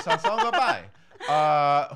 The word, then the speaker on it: Sasson Gabay: So Sasson Gabay. Sasson Gabay? Yep. Say it every which way, and one of them will Caitlin be right. Caitlin taught me how to say it right before Sasson Gabay.